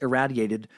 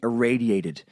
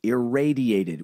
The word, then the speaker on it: irradiated: it's supposed to be irradiated you pronounced irradiated with a rat like bouncing the smoothy's guy's head was so rad it is actually pronounced irradiated with a raid like Bojangles always enjoys